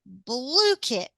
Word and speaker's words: BlueKit: Just spell blue and kit, and you've got BlueKit.